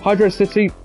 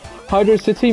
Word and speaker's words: Hydrocity: Hydro City may be how it's pronounced, but Hydrocity sounds cooler because, you know, with, like, velocity.